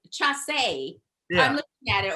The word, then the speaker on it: Chace: Well, my last name is Chase, and it's spelled Chace. So I always get Chase or Chance.